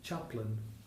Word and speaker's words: chaplain: In this poem, chaplain rhymes with slapping.